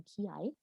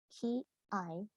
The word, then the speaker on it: ki-ai: I have an example here of a kakegoe or a ki-ai, which is known as sore, and sore means ready, let's go.